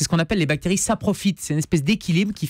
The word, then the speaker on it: saprophyte: Saprophyte, oui, ça s'écrit S-A. P-R-O-P-H. Ah oui, d'accord, c'est pas ça, c'est pas ça profite. C'est pas CCDI et plus loin profite. C'est pas en deux mots.